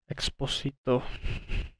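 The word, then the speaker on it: Expósito: years all right well i got exposito that's that's how you pronounce it i feel like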